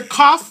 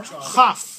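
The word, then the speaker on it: כ: So it's either Kaf with a dot in it or Chaf.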